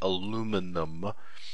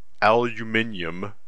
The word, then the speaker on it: aluminium: that again the brushed aluminum or aluminium depending on what part of the world you're from looks very nice and